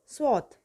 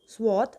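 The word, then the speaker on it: swath: The next word is स्वाथ which is a verb and इट कैन be pronounced as स्वाथ और स्वेथ।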